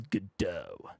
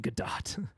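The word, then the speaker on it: Godot: do like other said the truly correct pronunciation is gdau I find it better to pronounce it gdat all right I'm going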